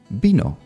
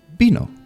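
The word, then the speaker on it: vino: like B for example bino which means wine as you can see at the beginning of the word is written with v but actually I said bino so you kind of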